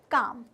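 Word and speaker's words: calm: हैं, काम, हम इसको कॉल्ब नहीं कह रहे हैं, हम एल को प्रोनाउंस नहीं कर रहे हैं। तो पहला हमारा क्या वर्ड सर्कल हो जाएगा, काम।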